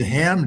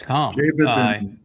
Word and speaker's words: Cham: Yeah, it's Cham. It's Cham, which is really interesting because he appears on the story of the two individuals that when it's Noach and Shem that join Yahowah in visiting Abraham and Sarah, both Cham, C-H-A-M, and Yepheth are both there.